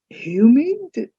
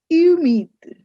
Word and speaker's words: humide: Remember H is silent in French. So, you don't say "humide". You say "humide". Il fait humide.